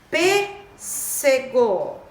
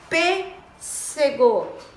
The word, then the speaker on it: pêssego: Pêssego. Pêssego. Pêssego. Tem acento circunflexo, né? O chapéuzinho aqui. Então, pêssego já me deixou na dica aqui, né?